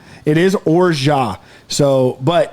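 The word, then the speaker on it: orgeat: or it's it's not we're jeet it's not origin it's orjah it is orjah so but it's it's fair it's fine to call it or jot absolutely but in french if there is if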